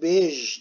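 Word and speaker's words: beige: Şimdi leylak renginin Almancası lila, pembenin Almancası rosa, bej renginin Almancası bej diye okunur. Bu burada bayge gibi oluyor tabi, Almanca okursak bayge diyesimiz gelir de Fransızcadan geçme bu kelime, buna bej diyoruz.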